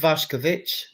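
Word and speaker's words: Vušković: Pronounced Vash Kovic actually. Vash, believe it or not, for those that care about those sort of things.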